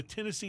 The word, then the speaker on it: Tennessee: names kentucky tennessee yeah but the tennessee having the emphasis on the last syllable that makes it sound